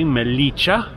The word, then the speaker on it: Melilla: one of them today melicha and I'm reliably informed that's how it's pronounced the other being filter